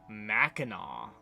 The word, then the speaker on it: Mackinac: Mackinac is pronounced Mackinac.